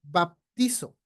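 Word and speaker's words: βαπτίζω: bautizado es la palabra G 907 baptizo así se pronuncia y significa bautizo así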